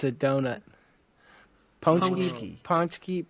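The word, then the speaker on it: paczki: know damn nice yeah it's spelled uh p a c z k i ponki okay ponki ponki okay there's there's an in in there somewhere it just doesn't exist huh yeah I guess so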